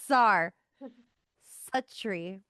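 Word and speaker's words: Czuchry: Oh, it's like Zar a tree.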